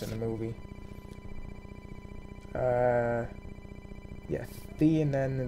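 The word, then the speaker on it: Theinen: Yeah, Theanen the Great Sphinx. Sorry, they pronounce it Thinian the Great Sphinx in the movie, but that's actually mispronouncing it.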